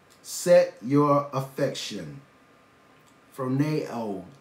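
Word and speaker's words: φρονέω: Phroneo. That's the pronunciation of the Greek word.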